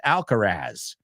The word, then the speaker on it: Alcaraz: And number 3, Carlos Alcaraz, or as Americans say, Carlos Alcaraz.